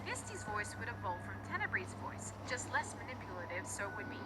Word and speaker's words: Tenebrae: While Tenebrae's name comes from the Latin word for darkness, Tenebris, I decided to pronounce it as Tenebrae to make it sound a bit more fancy.